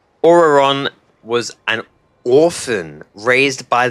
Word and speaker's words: Ororon: Ororon. Okay, that's how you pronounce it.